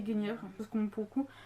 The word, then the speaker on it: Guenièvre: Moi j'ai toujours dit Guenièvre, parce qu'on pour le coup.